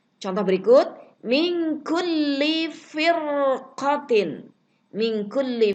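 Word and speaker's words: فِرْقَةٍ: Contoh berikut, min kulli firqatin. Min kulli firqatin. Ro sukun, sebelumnya ada huruf berharokat kasroh nih asli. Dan sesudahnya ada huruf isti'la. Huruf qaf.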